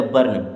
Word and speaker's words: burn: यू आर है ना तो उल्टा आर लगा दीजिए, हो जाएगा बर्न। क्या होगा? बर्न। यही सही उच्चारण है इसका।